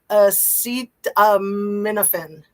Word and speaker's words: Acetaminophen: I always like to complicate things, so I put a whole nother syllable in there. Thank you, Anna Bees. Acetaminophen. See, I've been saying it wrong my whole life.